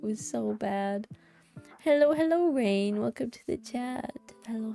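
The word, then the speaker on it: Raine: It was spelled like R-A-I, like Rain, but then with an E. So like Rain, yeah, Rain. That's how it's supposed to, yeah, to be said.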